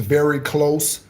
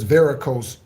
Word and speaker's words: varicose: So many people mispronounce that like it's very close veins. It's not very close veins. Okay? It's varicose veins.